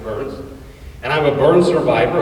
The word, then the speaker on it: Byrns: Ain't it interesting that my last name is pronounced Burns?